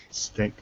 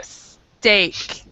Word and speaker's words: steak: real quick pronunciation okay i believe you said you can enjoy a steak right stick okay this is what i heard i heard stick oh okay so you have to go steak steak because you can